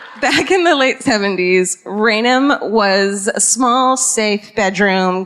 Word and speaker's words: Raynham: I wrote it as Raynham. Is it Raynham? Okay, Raynham. Listen to how it's spelled. Ready for this?